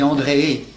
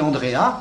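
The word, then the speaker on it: Andreae: se termine par AE, le AE allemand, le AE latin qui fait E. Alors on dit André si on le prononce à la manière latine, et quelquefois on dit Andrea pour faciliter, parce que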